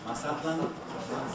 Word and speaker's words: Mazatlan: This is, everyone, Mazatlan. Mazatlan. Mazatlan is the Hispanicized pronunciation.